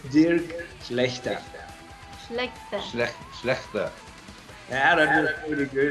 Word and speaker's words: Schlachter: Dirk, I hope I pronounce it right. Dirk Schlachter? It's Dirk Schlachter.